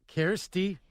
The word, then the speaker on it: Kjersti: It's Kjersti. Did I say it right? Kjersti? Yep, you said it right. All right, I said it like a Norwegian would, right?